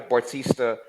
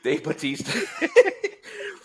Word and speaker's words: Batista: special yeah that's when we first got the bartista I'm sorry oh are you talking about Mike pronunciation yeah sorry boy Batista so the Christmas special which we didn't even